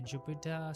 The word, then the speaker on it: Jupyter: So I'll just say Jupyter space lab. By the way, Jupyter is spelled with the Y in place of an I, so it's Jupyter.